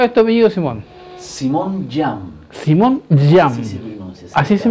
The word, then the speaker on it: Jeame: Simón Jam. Simón Jam. Así se pronuncia. Así se pronuncia. J-A-M. J-A-M-E. Ah, Jam, y se pronuncia Jam.